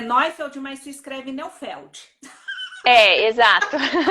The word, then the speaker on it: Neufeld: é Neufeld, mas se escreve Neufeld.